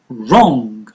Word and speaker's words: wrong: listen listen he assigned wrong wrong W is silent and build build you